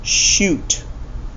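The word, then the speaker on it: chute: words like chair right start with a CH but this one is pronounced shoot that's like a tube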